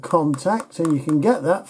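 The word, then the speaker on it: Kontakt: Now, I use one called Contact, and you can get that free.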